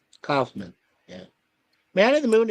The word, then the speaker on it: Kaufman: be called yes yes is it Kaufman or calman I I always mispronounce it Kaufman cman Kaufman yeah man of the